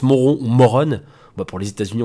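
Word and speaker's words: Morón: mauron en espagne alors je passe ça se prononce moreau morrone bas pour les états unis on va dire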